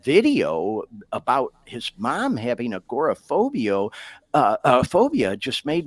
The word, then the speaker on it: agoraphobia: and video about his mom who has a a gor phobia I think is that how you say it agoraphobia yeah yeah and he he you know I